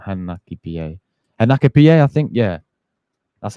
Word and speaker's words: Hincapié: Hincapié, I think. Yeah, that's how you pronounce the guy's name.